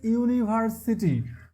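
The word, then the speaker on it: university: এরপরে হচ্ছে দেখেন আমরা একটা ব্যতিক্রম নিয়ম শিখেছিলাম যে হচ্ছে ইউ বা ইউ এর মত উচ্চারণ হলে সেখানে আমরা কি বসাই? সেখানে হচ্ছে এ বসাই। যেমন হচ্ছে ইউনিভার্সিটি।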